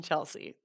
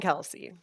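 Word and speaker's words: Kelce: But anywho, I caved and today I looked up the show Chasing Chelsea. I just said his name wrong. Chasing Kelsey.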